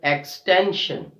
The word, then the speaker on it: extension: Similarly, we have the next word, extension. Extension. So we are stressing on the second last syllable, T-E-N, extension, extension.